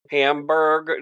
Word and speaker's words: Hamburg: He is a captain in Hamburg, New York. Correct, Todd? Hamburg? That's correct, Chris. I want to make sure I get it right. I'm bad at pronouncing shit. It's like the hamburger without the ER, right?